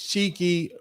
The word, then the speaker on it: Chikei: Now, Rick Chow's full name is Cheeky Rick Chow, and that is spelled Chikei, Rick Chow.